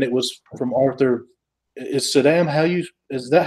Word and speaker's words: Saddam: Yeah, I even asked him specifically because I heard Bill from Economics and Comics pronouncing it Saddam. And so I was like, have I been saying it wrong all these years? And so I asked him, I was like, is it Saddam? And he said, yeah, that's how you say it.